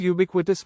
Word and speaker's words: ubiquitous: It is pronounced as ub by k wit tuss. The word ubiquitous means present, appearing or found everywhere.